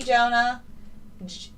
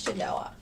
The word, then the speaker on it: Genoa: it Genoa I apologize I've been saying your name wrong Genoa I think it's Genoa yes Jen Genoa awesome I apologize for calling you Jonah all of the other